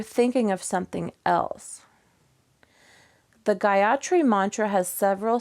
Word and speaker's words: Gayatri: busy so you're thinking of something else the Gayatri mantra has several syllables and I'm going to say them for